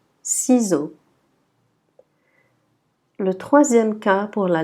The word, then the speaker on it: ciseaux: Toujours le X à la fin, on ne prononce pas. Donc on dit ciseaux.